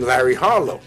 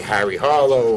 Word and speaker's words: Larry Harlow: and to colombia and they didn't know i couldn't pronounce the name larry harlow they would call me harry harlow or carlo harlow or stuff like that but they did know